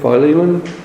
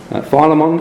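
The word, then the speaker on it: Philemon: Filimon. Ph. Phileiman. Uh there are all sorts of different ways of saying it. I think Phylamon. Phileiman. Filimon. Okay, I'll say Filimon.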